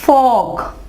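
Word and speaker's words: folk: अगला है फॉक। ठीक है, यहां देखिए के से पहले एल, एल आवाज नहीं देगा।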